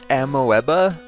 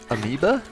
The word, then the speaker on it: amoeba: you look at it it looks like ammoeba but it's amoeba i'm pretty sure that's how you pronounce it i don't know it's